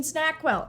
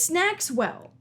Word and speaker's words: Snackswell: so now we've seen snackwell and his i should get his name it snacks well snackswell okay well i've been pronouncing his name wrong this entire time i'm